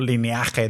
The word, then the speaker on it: Lineage: videojuego que se llama Lineage 2, lineaje 2, si utilizas la pronunciación en español.